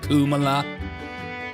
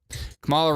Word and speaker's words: Kamala: You over here making us pronounce these hard names like Kamala, Kamala, Kumala. How do you even pronounce it? Still trying to figure it out. Kamala rhymes with parabola.